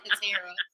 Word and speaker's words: Katara: Make sure that you listen to Katara. Katara. There I go. Katara. Well, everybody calls me both, and I answer to both, but it's pronounced Katara.